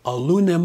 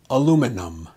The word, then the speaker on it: aluminum: aluminum there's only one end in the word aluminum be sure not to put two ends around the EM some say aluminum or aluminium on you can really sound illiterate if you don't pronounce this with care aluminum aluminum for more